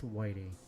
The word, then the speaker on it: Whitey: Yesterday or the day before, his name is pronounced Whitey.